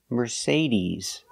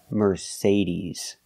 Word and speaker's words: Mercedes: e like green beans we say Mercedes Mercedes the final sound is not s like Star it's Z like zebra Mercedes Mercedes put the stress on the second syllable Mercedes remember he's not Mercedes it's Mercedes he's a long e